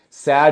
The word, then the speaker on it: sad: DOE Lee was sad sad is not a long sound you can you can find out by saying a e i o u no it's not there it's ah that sound is this one right here and that is